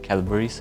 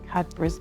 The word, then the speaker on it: Cadbury: prefer gorinka or cadburis do do you say it like calburis or cabris? Yeah. Sorry I have to say it's cadbury.